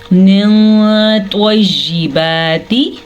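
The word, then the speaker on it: طَيِّبَاتِ: پیش واو، لو، کولو۔ طیباتی، توا کو پر پڑھنا ہے، توا پہ توا حروف مستعلیہ میں سے ہے، اسی لیے توا کو ہم پر یعنی کہ منہ بھر کے پڑھیں گے۔ طیباتی، با کھڑی زبر با،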